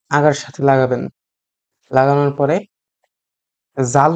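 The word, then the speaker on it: ذال: লাগানোর পরে জাল উচ্চারণ করবেন না, উচ্চারণ করবেন জাল। জাল, এটাও পাতলা উচ্চারণ হবে। বাংলাদেশে দেখা যাবে যে অনেকেই এটাকে জাল উচ্চারণ করে থাকেন, কিন্তু এটা সম্পূর্ণ ভুল উচ্চারণ।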